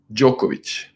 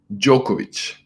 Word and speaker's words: Djokovic: courage Noack is the King how do you pronounce it it's Djokovic Djokovic Novak Djokovic and we call him nollie ok